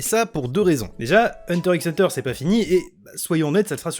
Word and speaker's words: Hunter x Hunter: on va parler de hunter x hunter d'ailleurs petit point très rapide pour éviter certains commentaires oui je sais que normalement se se prononcent hunter hunter mais comme on dit